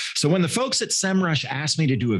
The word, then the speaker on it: Semrush: you how to use semrush to generate the results you're looking for and yes it's pronounced semrush not sem rush hey you learn something